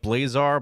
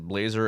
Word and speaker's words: Blazar: Ultram man Blazer I it reads like blazar but I think they pronounced it Blazer in the trailer so it confuses me blazar oh that's even